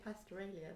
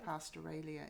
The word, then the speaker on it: Pastoralia: of short stories pastoralia Pastor Ronnie is that how you say it in my head I say pastoralia but okay I'm gonna say pastoralia if I like Australia pastoralia if I remember uh